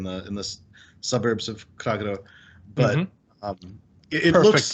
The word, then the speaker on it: Kragerø: you're probably in the in the suburbs of kragero but um perfect pronunciation perfect thank you i've heard you say